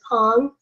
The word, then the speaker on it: Pang: came up which is the way you pronounce my name and others of you would know me as paying for and others as pong so multiple names in